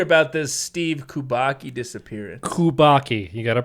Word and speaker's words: Kubacki: so let's hear about this steve kubaki disappearance kubaki you got to pronounce that correctly nothing else i'm a little